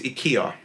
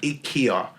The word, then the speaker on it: IKEA: It's IKEA. Oh, okay. IKEA. And that's how the Swedish people pronounce it.